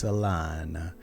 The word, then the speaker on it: Solana: Solana, I like to say it like an Italian sometimes. Solana.